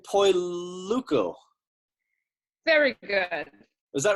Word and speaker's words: Poluyko: And did you notice how I just skipped right past the mispronunciation that time, Margarita? Yes, I did. I'm going to say Poluyko.